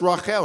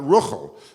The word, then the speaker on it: Rachel: And more generally, how do we know Rachel is pronounced Rachel and not Ruchel, for example, or Rochel, the way it is in Yiddish?